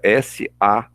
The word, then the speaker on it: sabot: Sabor é S-A-B-O-T, sabot. A gente não pronuncia o T, é mudo, tá?